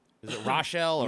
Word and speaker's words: New Rochelle: Is it Rochelle or New Raquel?